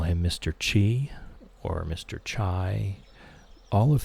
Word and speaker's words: Qi: Qui makes no sense whatsoever. Spelled Qi. I can see key. I can see chi. I can see chai. I cannot see qui ever being the correct pronunciation.